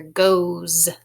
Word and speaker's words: goes: This is kind of an odd spelling as well because you hear z at the end, even though it's an S. You hear goes.